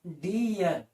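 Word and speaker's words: deer: अगर double E है और लास्ट में आर है, क्या है? आर, तो वहां पे उच्चारण बदल जाएगा, उसका उच्चारण हो जाएगा ई एयर। ठीक है। तो ड से डी और ई से, डबल ई से बड़ी ई की मात्रा और ईयर, तो इसको हम क्या पढ़ेंगे? डी ईयर।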